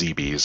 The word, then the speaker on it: Zebes: I've always pronounced it as ZBs.